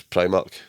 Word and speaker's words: Primark: It's Primark. It is pronounced actually Primark, but I always say Primark.